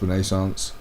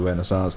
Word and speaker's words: Renaissance: It's pronounced Renaissance or Renaissance, depending if you're English or French.